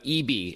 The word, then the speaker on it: ibi: All right, without further ado, Anthony, now let's talk about EB, and it's spelled IBI from SanDisk.